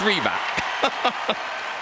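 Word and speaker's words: Rybak: a huge Norwegian Roar Alexander Ryback good evening hey it's our host everyone Nadia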